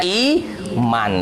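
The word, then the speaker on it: إيمان: Karena harokat sebelumnya kasroh, maka dia dibaca iman. Sama juga dengan ayat yang cukup fenomenal, itu nih, dibahas di kajian tersendiri itu ya.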